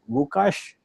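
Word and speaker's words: Łukasz: The pronunciation is Vukash. And he is next. Hi. Hi, I'm Lukasz and I'm working in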